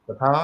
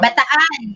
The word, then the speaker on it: Bataan: How do you pronounce that, ladies? Bataan? Bataan.